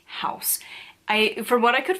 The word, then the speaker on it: Haus: translate says is that in German and in English it is pronounced house even though it is spelled where I would think